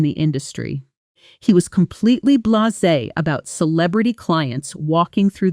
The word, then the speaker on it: blasé: After years in the industry, he was completely blasé about celebrity clients walking through the door. Pronunciation: blah-zay blasé Sentence: She seemed strangely blasé about winning the award.